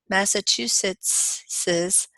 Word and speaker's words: Massachusetts's: now we have Harris's Massachusetts's weather can be frosty massachusetts's you added one syllable there Jones I do not